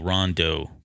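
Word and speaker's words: Rondeau: feedback on that disney it's spelled r-o-n-d-e-a-u rondo please call him okay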